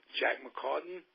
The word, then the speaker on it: McCartan: Goaltender goes down, and the star of the Olympics, Jack McCartan, am I pronouncing that correctly?